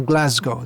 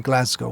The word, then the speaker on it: Glasgow: one ISKCON Centre near Glasgow they're both centred in Glasgow or Glasgow depends which part of Britain you're from how you pronounce glass key if you're from glass